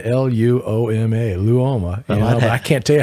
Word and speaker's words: Luoma: his funny thing is when you look at his his name it's pronounced phonetically you just look at it it's his spell it's uh lou oma l-u-o-m-a luoma i can't tell